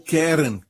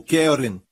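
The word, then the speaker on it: קרן: desta aqui Caron Caron a palavra Hebraica para ela é Karen ou querem é assim se pronuncia em hebraico querem se o seu nome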